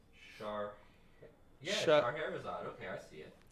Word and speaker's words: Scheherazade: She pronounce Scheherazade is how my mother is saying it's pronounced. that. Yeah, Shah- Scheherazade. Okay, I see it. Scheherazade.